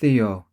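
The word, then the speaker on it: Δύο: Dýo. Éna.” (pronounced TREE ah, THEE oh, EH nah) Then, through the monitor, we heard a tiny explosion—immediately followed by a much larger one.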